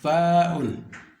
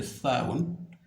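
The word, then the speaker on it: ثاء: Le tha'un, tha'un, tha'un. Pour bien prononcer le tha'un, vous sortez la langue, donc vous mettez la langue entre les deux dents, donc dents supérieures et dents inférieures.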